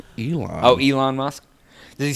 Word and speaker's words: Elon: It's Elon.